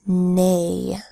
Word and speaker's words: neigh: don't next word is neigh the horse says neigh of it in that says mm an e IG H to say a mm a neigh one thing to know